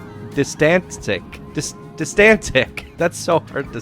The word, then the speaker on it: Distantsic: And then he says, "Also, just saying it's pronounced Distantsic. Distantsic.